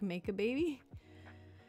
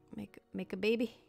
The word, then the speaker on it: Macabebe: The first result that came up is that it's pronounced roughly like make a baby. Would it really be make-a and not maca? Is that correct? Make a maca. Make a baby.